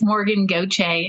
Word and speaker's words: Gauthier: Say hello to Morgan Gauthier. Sorry if I didn't pronounce it correctly. No, you got it close. It's hard. It's Morgan Gauthier. It's Cajun French.